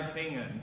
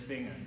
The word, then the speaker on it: Fingern: But drei Fingern, so there was a little too much of a hard G in there. Fingern is more of an English pronunciation, but just make sure it's Fingern.